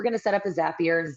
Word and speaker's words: Zapier: So, the first thing we're going to do is we're going to set up a Zapier. Zapier. Zapier.